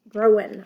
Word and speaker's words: Growin': called what's growing on growing on sorry it's got the apostrophe there so you don't pronounce the g and it talks about